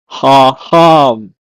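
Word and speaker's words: חכם: In Hebrew, is pronounced as haham. Haham.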